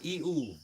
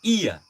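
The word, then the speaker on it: ie: Tetapi secara pronoun, i itu tidak benar pengucapan air itu i. Itu orang Aceh yang baru belajar, bahasa Aceh akan mengatakan i. Tapi orang yang sudah tahu bahasa Aceh maka akan mengucapkan iya. Bukan i, iya.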